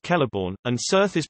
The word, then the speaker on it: Celeborn: The letter C always denotes K, even before I and E. For instance, Kelleborn is pronounced Kelleborn, and Cirth is pronounced Kirth.